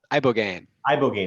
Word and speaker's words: ibogaine: How do you pronounce it? Ibogaine, excuse me.